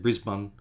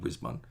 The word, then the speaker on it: Brisbane: I will accept Brisbane. Well, maybe not Brisbane, but Brisbane. Just say it quick. Emphasis on the Bris, not the bun.